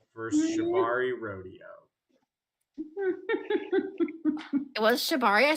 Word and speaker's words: Shibari: It was Shibari.